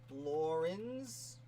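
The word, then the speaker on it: Laurens: It's Lawrence. Lawrence, like Laura.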